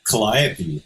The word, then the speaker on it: Calliope: you then go to calliope did that did i pronounce that right it's calliope calliope that's it yeah so so so